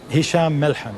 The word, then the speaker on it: Hisham Melhem: First of all, am I pronouncing your name both correctly? Hisham Melhem. Yes. Melhem, that's what I said.